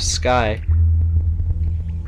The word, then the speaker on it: Skye: in her hometown of Skye which is pronounced Skai in her dialect I have to keep